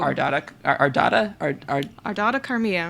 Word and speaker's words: Ardata Carmia: Ardata Carmia. Ardata Carmia. That's what I've arbitrarily decided. That's how you pronounce her name.